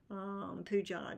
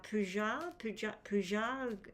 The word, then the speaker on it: Pooja: Now, Pooja, I think you pronounce it like that with a zh sound.